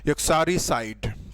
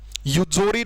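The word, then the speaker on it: uxoricide: को ही बोलते हैं युक्सारिसाइड। ठीक है, युक्सोरी नहीं होता, ये युक्सोरी नहीं होता, ध्यान रखना। इसका प्रोनाउंसिएशन बहुत ही थोड़ा सा टिपिकल है, इस बात का ध्यान रखेंगे।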